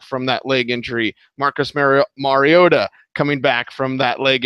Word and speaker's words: Mariota: I mispronounced a lot of things like Marcus Mariota. I was alerted via Twitter. Like, it's not Mariota, idiot. It's Mariota. Whatever.